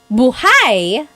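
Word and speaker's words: buháy: If you say buhai, the emphasis is on the second syllable.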